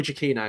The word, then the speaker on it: Giacchino: his surname camp now because how I've always pronounced it I'm wrong Jackie no Michael Jackie no that's it and they did a little teaser